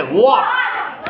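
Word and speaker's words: walk: ॉक ही spelling है डब् ए एल के लेकिन उसको हम क्या प्रोनाउंस करते हैं वक ऐसे ही देखो ये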